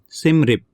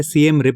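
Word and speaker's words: Siem Reap: नाम है सिम रिप इसका उच्चारण अलग-अलग आपको मिल सकता है सीएम रिप भी इसको बोलते हैं इंग्लिश में यह है एस आईई एम आर ई ए पी जगह का नाम है कई जगहों पर आपको कई तरह के उच्चारण मिलेंगे उससे बहुत घबराने की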